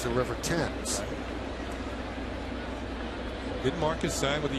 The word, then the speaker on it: Thames: Now, Eric spells his name the same way Marcus spells his name, the former Yankee, but Marcus pronounced his name Timms. Eric says his name is pronounced Thames.